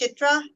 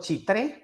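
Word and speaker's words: Chitré: The question is, I believe it's pronounced Chitra, if that is an up and coming area. Is that true? I'll share you the map, but it's called Chitre.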